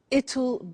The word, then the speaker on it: it'll: now will is easy really it's just the pronunciation which is difficult I said tomorrow it'll be cold you notice how it will becomes